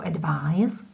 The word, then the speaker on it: advise: The second one, to advise, with z in its pronunciation and in its written form advise, is a verb and means radit, poradit, doporučit.